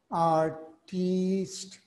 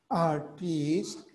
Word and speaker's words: artiste: But please, this word, with an extra E, is first of all pronounced as artiste. Okay? The word is pronounced as artiste, and it means a public performer, a dancer, or a singer.